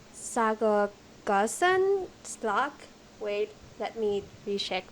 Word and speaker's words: Sacoglossan: So, okay, let me pronounce it correctly. It's Sacoglossan sea slug.